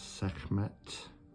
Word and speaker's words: Sekhmet: Not quite sure how to pronounce this one. So it's Sekhmet, which is the daughter of Ra.